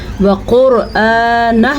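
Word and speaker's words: وَقُرْآنَهُ: ہے، ٹھیک ہے۔ وقرآنہ، وقرآنہ میں را کو پر پڑھا جائے گا کیونکہ را کے اوپر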